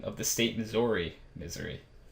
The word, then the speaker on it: Missouri: pronunciation of the state Missouri misery it's just terrible dude that boggles my mind I jump topics um but there are people that live in Missouri who pronounce it like misery you know they probably